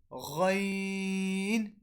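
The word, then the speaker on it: غين: So the word letter Ghain and Kha are originated from the top of our throat, from the part of our throat which is close to our mouth.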